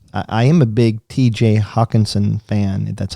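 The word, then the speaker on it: Hockenson: for me is i am a big tj hawkinson fan that's how you pronounce it but yeah um i don't see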